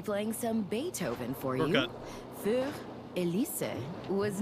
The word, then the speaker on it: Für Elise: And now, Für Elise. Bro, that's not how it's pronounced. It's Für Elise.